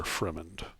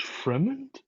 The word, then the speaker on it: Fremont: breakfast of course sir fremend close enough oh grab a like a slice of cantaloupe or something and walk out the door eating it it's pronounced Fremont I thought it was like Freeman that's it close enough